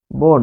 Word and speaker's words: বন: পথ যখন বলছেন পথ, তারপর হচ্ছে বন, এটার উচ্চারণ কি? বন, কারণ বয়ের পরে দন্ত ন আছে, একাক্ষর শব্দ, আর এটার উচ্চারণ হচ্ছে পথ।